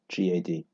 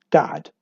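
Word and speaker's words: גד: I'll just say my father's Hebrew name is the son of Jacob, Gad, G-A-D. G-A-D. Pronounced in Hebrew, God. Right? In Hebrew, you don't say Gad, you say God.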